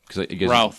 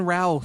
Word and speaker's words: Routh: She says, how do I pronounce the name? Ralph. Brandon Routh. Okay. Ralph. I so agree about Brandon Routh. Like Should have South been bigger. with an R.